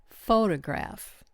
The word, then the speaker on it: photograph: For example, photograph. The first syllable gets the spotlight.